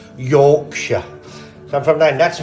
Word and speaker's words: Yorkshire: I can't say it but it's jokes actually pronounced Yorkshire so I'm from nine that's me Yorkshire Indian